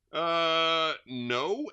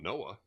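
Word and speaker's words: Noe: No, N-O-E. How do you pronounce N-O-E? No? It's not Noah. All right. Anyway, it just says no.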